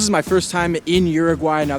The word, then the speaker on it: Uruguay: my first time in Uruguay now the locals pronounce it Uruguay so I'm going to